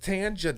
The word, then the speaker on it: Tanja: Because Tanja No. doesn't It's the suggest. same shit. No. I don't give a fuck. No, It's no. the same shit. Tanja does Nope.